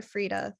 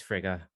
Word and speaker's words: Frigga: what you're saying with is it frica or freda mom did i pronounce it wrong did i say free frida yeah it's it's frigga not a d sorry everybody re rewrite it